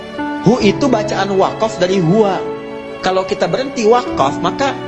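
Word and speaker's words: هُوَ: Nah, huwa itu kalau kita ingin berhenti di huwa, maka A-nya nggak dibaca, U.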